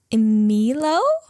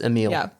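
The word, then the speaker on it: Émile: yes yes what is Remy's brother's name oh emo super close close is it is it Emil is that how you pronounce it it's Emil yeah that was very good though and final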